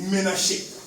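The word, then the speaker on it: Menashe: Écoutez, en hébreu, Manassé s'écrit Ménaché. Ménaché.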